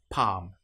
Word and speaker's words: palm: Another one that you might come across is when you have L M together. An example might be palm. In this case, the L you will notice is not pronounced at all. Palm or calm.